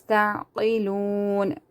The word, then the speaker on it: تعقلون: You know the words which you're supposed to read thicker, you have to read it thicker. Ta'qilun. See, this is also waw madda, because the waw is silent, and before that there is madda, so you have to stretch it according to one alif.